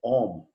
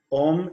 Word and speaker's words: Om: Om is 3 seed syllables, A, U, and M.